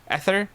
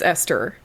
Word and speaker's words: Esther: Esther, how do you pronounce Esther? Ether? Buddy. Esther? It's Esther.